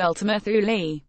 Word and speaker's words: Ultima Thule: investigate a celestial object called Eltham earth will pronounced Ultima Thule precision is everything navigating through this deathtrap wasn